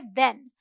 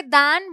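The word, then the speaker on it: then: रही हूं, ये है देन। बहुत सारे लोग इसे दैन बोलते हैं, इट्स नॉट दैन, इट्स देन।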